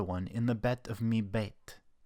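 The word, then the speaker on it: מִבֵּית: Right before the bet is this chirik, a vowel. The rule here is if the dagesh follows a vowel, it's a dagesh chazak. It's letting us know that this bet is actually a double letter.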